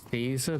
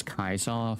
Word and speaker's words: Caesar: I want to say it's pronounced Caesar by those that aren't in the Legion. It's Kaisar for those that are.